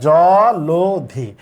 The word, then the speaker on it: জলধি: জলধি, ধয়ের সাথে ই আছে, তাহলে লয়ের সাথে যে অটা আছে এই অটার উচ্চারণ হচ্ছে ও এর মতো হবে।